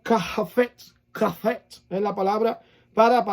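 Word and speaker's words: חפץ: Eso se pronuncia, voy a tratar de decirlo de alguna manera para que usted me entienda. Es como kafet.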